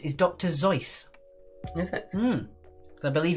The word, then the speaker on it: Seuss: The correct pronunciation of Dr. Seuss is Dr. Zeus.